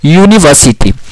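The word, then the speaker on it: university: अब हिंदी में जैसे ही इसे यूनिवर्सिटी करोगे तो य आएगा, य इसका य जो आएगा, इसका फर्स्ट जो है, तो यह जो होता है वर्ण, ये क्या है, यह एक कॉन्सोनेंट है, इसलिए यूनिवर्सिटी के साथ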